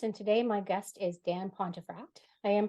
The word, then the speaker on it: Dan Pontefract: And today my guest is Dan Pontefract. I am pronouncing that correctly, right?